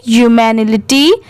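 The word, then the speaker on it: humanity: ह्यूमैनिटी अब जैसे देखिए ह्यूमस में एच यू की साउंड भी यू की आती है मतलब हु की आती है तो यहां पर भी यू हो गया यू मैन तो मैन की जगह यहां पर मी है एम आई मी एल आई टी वा लिटी तो इसे पूरा क्या पढ़ेंगे ह्यूमैनिटी ए एन डी and give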